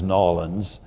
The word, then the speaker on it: New Orleans: So wonderful to be here, and without further ado, Vicky, growing up in a place that I used to call New Orleans, and then I learned to pronounce as Nolans, you were ensconced in a deeply Catholic family and culture there.